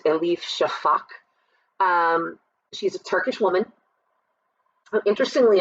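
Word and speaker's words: Elif Şafak: I believe the author's name is pronounced Elif Shafak.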